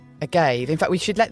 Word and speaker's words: agave: Oh, you said that the posh Spanish way, agave. I always thought it was agave.